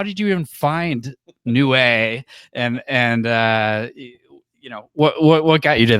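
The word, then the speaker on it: Niue: I'd never heard of, Nui, right? Am I saying it right? I think it's Nue. Nue. Yeah. Nue. Oh, okay. Nue.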